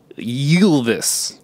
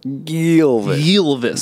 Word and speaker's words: Ylvis: It's pronounced Ylvis. Ylvis.